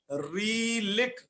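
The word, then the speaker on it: ऋलृक्: मेरा थोड़ा उच्चारण सुनिएगा, रीलिक।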